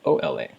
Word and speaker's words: hola: to say hello it's hola now remember that anytime there's a word in Spanish that begins with the letter H you never pronounce it it's always silent so that's why you